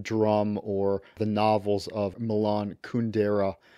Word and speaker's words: Kundera: or the novels of Milan kundera who I've mispronounced as Milan kundra elsewhere those European Works